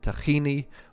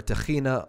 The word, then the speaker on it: tahini: seed paste and again it's probably better to pronounce it tahini or tahina unless you see that the owner is from an Arab speaking country and then he's probably gonna love your mizraki accent okay next one is